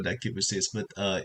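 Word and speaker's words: Kiss x Sis: Kiss with sis, even though there's an X there. Oh well, I always call that kisses, but Oh, it's more okay, like the X is silent.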